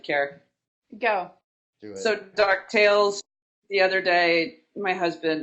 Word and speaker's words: DuckTales: We don't say DuckTales, we go DuckTales.